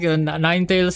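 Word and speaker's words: Ninetales: And um next see yeah we do say it like Ninetails.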